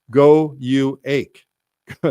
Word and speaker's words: gouache: Just go to it's like go uh that's how you spell it.